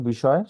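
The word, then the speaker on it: ب: তারপর আমরা যে হরফটি শিখেছি সেই হরফটি হচ্ছিল বা। এবং এই বাটা হচ্ছে দুই ঠোঁটের ভিজা জায়গা হতে উচ্চারণ হয়। স্বাভাবিকভাবে আমরা যেভাবে থাকি সেভাবে থেকে আমরা এটাকে উচ্চারণ করব, যেমন বা, বা, বা।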